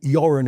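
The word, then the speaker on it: Göran: So therefore, if you ask a Swede today to pronounce Goththingberg, it's utter. And it was Sven Yurin Erikson, not Sven Goran Ericson.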